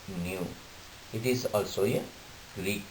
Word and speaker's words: nu: of frequency is Hertz the symbol of frequency is Mu you have to pronounce it as new it is also a